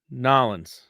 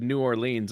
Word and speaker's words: New Orleans: Louisville or Nolens. I was down in Nolens and I said New Orleans and they're like, ooh, where's that?